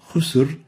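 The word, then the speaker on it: خسر: Khusr is the right way of pronouncing this. But if we really make it so tense and short, it will sound like this. Khusr, as if there is a hamza or there is no Ra.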